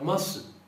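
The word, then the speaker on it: ます: E é isso, nós colocamos a forma masu, masu, que quando você pronuncia junto, você não pronuncia esse U, nome masu, esta forma está feita a conjugação aqui, ó.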